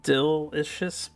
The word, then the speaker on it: Duelyst: Name is pronounced Duelyst, by the way.